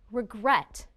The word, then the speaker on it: regret: which syllable is stressed listen again regret the second syllable is stressed the second syllable is